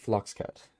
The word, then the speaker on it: Floxcat: Actually, he pronounces it Floxcat, actually.